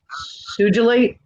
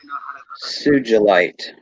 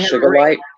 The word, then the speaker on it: sugilite: How do you say that again? Sugilite. Sugilite. Sugilite. Ooh, I did it right. Yeah. Yeah. I was calling it sugarlight for decades, Yeah. and Sandy corrected me in spades.